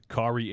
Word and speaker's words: Kaare: centrist and how how are you saying it corey that's there we go perfect i actually